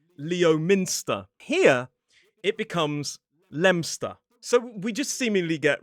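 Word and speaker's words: Leominster: In fact, it would be easier if we spelled it L E M S T E R. It is Lemster, not Leo Minster.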